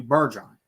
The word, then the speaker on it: Bergeron: So I'm going to say this leading into the selection, the trade up in selection of Matthew Bergeron. That's how you say it. He's Canadian.